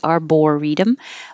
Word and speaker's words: arboretum: It looks like it should be perfectly arboretum, but in regular fast speech, it just gets reduced to an arbor.